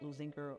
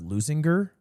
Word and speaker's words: Linger: Yes, we are Linger Olympians with pride. And our school was actually founded in 1930. And in 1932 we Wait, it's pronounced loinger.